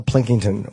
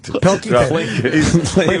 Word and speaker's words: Pilkington: Carl Plinkington, or is that how you say his name? Plinkington. Pilkington.